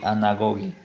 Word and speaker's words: anagoge: Podemos ver realidades e acontecimentos em sua significação eterna, conduzindo-nos, em grego, anagoge, pronuncie anagoge, a nossa pátria.